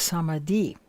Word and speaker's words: samadhi: lead them to that experience today's topic is samadhi actually it's supposed to be pronounced samadhi with a brief touching on the pranava or